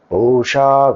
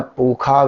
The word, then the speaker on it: pusha: And so, some of them you will see they won't pronounce sha. So, they will say svasti na pukha vishvaveda.